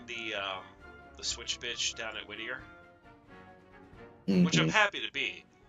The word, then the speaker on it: Whittier: He himself cannot pronounce Whittier. Does he say like Whittier? Or something? He says like Whitter. That? Whitter? Like you're trying to say water.